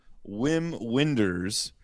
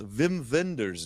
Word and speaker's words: Wim Wenders: we were calling him Whim Winders. And actually, his name is pronounced Vim Venders. Dude, he's German and that's how the Germans pronounce their W's apparently.